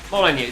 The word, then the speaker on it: Molyneux: Molyneux, there you go. Yeah, thank you, thank you. I knew there was an X in there somewhere, but it wasn't pronounced X.